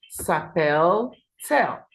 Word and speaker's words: s'appelle-t-elle: Now, for il, elle, and on, we add the hyphen T hyphen for pronunciation. So it becomes s'appelle-t-il. Okay, s'appelle-t-il. Okay, so that is it. Now for L, it will be s'appelle-t-elle. Okay, so please take note of that.